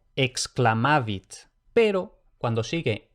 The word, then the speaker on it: exclamavit: Por lo general va a ser KS más la C que se pronuncia K. Por ejemplo, exclamavit.